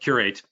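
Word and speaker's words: Qr8: eight so um very very very clever but curate uh is the uh the name of the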